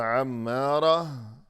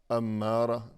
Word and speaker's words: عمارہ: یا آباد رہنے والی۔ لیکن جب اس نام کا تلفظ کیا جاتا ہے تو عمارہ کہنے کی بجائے زندگی بھر اسے یوں بلاتے ہیں کہ امارہ، یعنی برائی پر اکسانے والی۔ یقیناً یہ تو بہت